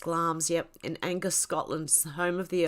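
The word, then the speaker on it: Glamis: castle situated beside the village of glams yeah pronounced glams yep in angus scotland's the home of the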